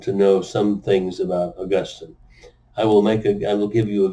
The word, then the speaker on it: Augustine: Latin Catholic theologians whose name was Augustine, sometimes pronounced Augustine.